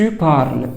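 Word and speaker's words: parle: الاي ما بيتنطق طيب ت بارل بارل هتقف عند حرف الال برض الاي اس ما بتتنطق اي وال واوم بارل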